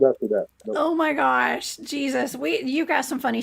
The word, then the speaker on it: Jesus: you Renee but it's she says it's Jesus not Jesus no but you you pronounce it Jesus right yeah I I'm speaking English so I say my name in English I just want to